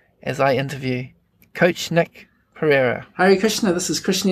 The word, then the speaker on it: Pereira: we are interviewing known as coach Nick Nick Pereira did I pronounce that right yeah you got it all